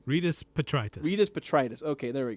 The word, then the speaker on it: Rydas Petritis: Rydas Petritis.